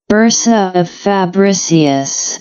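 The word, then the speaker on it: bursa of Fabricius: See the pronunciation of this whole thing. Bersa of fabricius.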